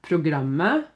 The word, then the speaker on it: programmet: So, et program, a program, programmet, the program. Remember, don't say the T.